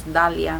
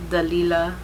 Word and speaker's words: Dalia: to tell people like it's Dalia, not Dalia, not Dalila, because people just add on syllables and stuff.